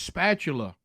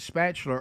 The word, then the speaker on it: spatula: spatula, people keep texting, it's spatula, they still don't get it. And I have people do that sometimes. They'll either, hey, when y'all say it on there, y'all realize y'all not pronouncing that right. No, we're calling it spatular on purpose.